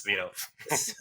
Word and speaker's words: Svinov: Snivov. How's your last name Svinov. pronounced? That's yeah. Hey there. That's Hey close. Rob. Yeah, I'm Yeah, Svinov.